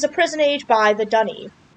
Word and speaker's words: D'ni: prison age by the Dunny. I don't know why Yeesh pronounces it Dunny. I used to pronounce it Dunny as well.